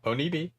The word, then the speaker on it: Onibi: How do we pronounce this? Onibi? Onibi? Yeah, Onibi.